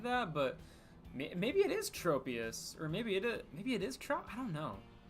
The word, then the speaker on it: Tropius: I say Tropius, or I say Trop. I say Tropius, like tropical, but I think both works.